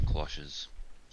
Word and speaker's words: cloches: I think we need to ban cloches. Ban what? What? Cloches. The cloches. Cloches. Oh, garden cloches? Yeah, cloches, that's how it's pronounced.